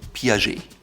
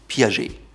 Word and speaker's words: Piaget: If you're into watches, you've likely heard of Piaget. Piaget. It's not Piaget, you don't hear the T, it's Piaget.